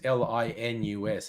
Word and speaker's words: Linus: no but his name is l his name's l i n u s and that's pronounced linus so l i n u x